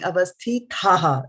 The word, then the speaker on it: avasthitāḥ: Yeah, so you're saying avasthitāḥ, so that it is not thaha. This is avasthitāḥ. See, there is no H here. This is a softie.